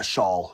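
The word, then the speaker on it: Shaul: Um we probably uh Shaw Shaw is how it's pronounced in Hebrew.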